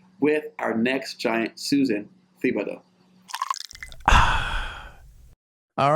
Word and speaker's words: Thibodeau: The H is silent and there's a lot of extra letters, but it's Thibodeau.